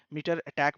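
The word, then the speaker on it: MITRE ATT&CK: जो हमारा फ्रेमवर्क है MITRE ATTNC के फ्रेमवर्क, है ना, मीटर अटैक बोलता हूँ मैं इसे, बहुत लोग बहुत अलग प्रोनाउंसिएशन भी यूज करते हैं, है ना, टू से दिस, बट मैं यही बोलता हूँ।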